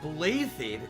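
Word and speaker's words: Blaiddyd: holy kingdom of fargus blathed that's not blatant boy everything in this game is pronounced oddly huh of course at the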